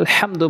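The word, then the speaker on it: الحمد: সূরা ফাতিহার ওখানে আলহামদু বলি, আলহামদু বড় হাইন উচ্চারণ করতে হবে, তেমনিভাবে আলামিন, ওখানে হামজা আইনে উচ্চারণ করি, অশুদ্ধ উচ্চারণ হয়, আমরা আইনের উচ্চারণ করব আলামিন।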